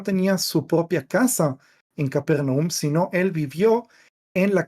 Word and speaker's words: Capernaum: Eh, Eliaar, si podés poner la imagen primera del PowerPoint, eh, Capernaum, eh, que en hebreo se pronunciafar Nahum, pero no voy a obligar a nadie tratar de pronunciarlo en hebreo.